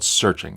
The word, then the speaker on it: SearXNG: The tool I like to use is called SearXNG, though it's spelled SearXNG.